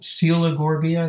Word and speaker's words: Coelogorgia: You know, there's a coral called Coelogorgia that's spelled C-O-E-L, Logorgia.